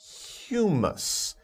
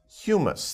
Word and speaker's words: humus: this word before it's humus humus the pronunciation is humus sometimes people get a little confused about that but humus think about another word that's pronounced very similarly but is a different word human but this is humus